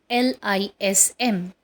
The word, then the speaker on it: journalism: So, the next word which we are going to learn today is Journalism, pronounced as journalism. In this, again, R is silent. It is not journalism, it is journalism.